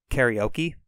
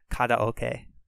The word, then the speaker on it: karaoke: So we pronounce it karaoke, but it's actually karaoke.